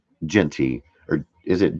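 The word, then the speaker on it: Jeanty: A in it on the Okay, so it's pronounced Genty without the A.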